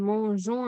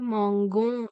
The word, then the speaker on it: mangeons: ஏன்னா இந்த நாங்கள் போடாட்டிக்கு நாங்கள் மோஞ்சோம் என்று சொல்லி வாசிக்கலாது. மாங்கோம் என்று வாசிக்கணும். அப்ப அந்த வாசிப்பு அந்த உச்சரிப்பு சரியா வர்றதுக்காக வேண்டி இந்த நாங்கள் இதுல போடுறோம்.